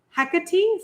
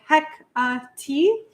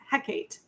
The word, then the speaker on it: Hekate: I pretty much figured out that the Greek pronunciation of the goddess is Hecate, so like Hecate. Though she actually appears in a lot of, in a certain Shakespearean play, and in that play, her name is pronounced differently as Hecate. But I've also heard a lot of neo-pagans call her Hekate, which is what I thought the pronunciation was, but I think in reality it's Hecate.